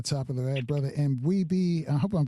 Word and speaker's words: M'Bwebe: Brother M'Bwebe, I hope I'm pronouncing your name. Correct me if M'Bwebe. I don't. M'Bwebe. M'Bwebe. Like yes. M'Bwebe.